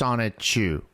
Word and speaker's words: Sonichu: So it's pronounced Sonichu.